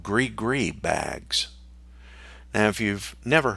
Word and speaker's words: gris-gris: And my exposure, my first experience with it, was helping the priestess prepare what's called gris-gris bags. Now, if you've never heard of gris-gris, it's spelled Gris, and then just spell that again, gris-gris.